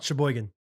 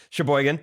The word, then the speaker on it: Sheboygan: that they would like us to try and pronounce i will say round the top the first two i think i already know sheboygan you nailed it that is the first one sheboygan very biggest sheboygan the second one i know